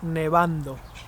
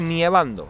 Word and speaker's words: nevando: And if it's snowing, Está nevando. nieve, snow, pero no se dice nievando, se dice Nevando.